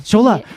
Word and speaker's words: Szola: Scholola. Scholola. Right. Like Lola.